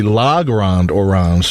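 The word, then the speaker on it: Le Grand Orange: pass to him and his nickname was always lagron wash but in French it's supposed to be la grande or rounds because orange is feminine but the guy who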